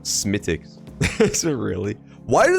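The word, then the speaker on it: Smithwick's: right let's start okay Smith Wix is pronounced smicks is it really why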